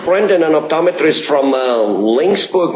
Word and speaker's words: Laingsburg: an optometrist from uh linksburg michigan did i pronounce that right talk to brandon yes langsberg is correct okay where in in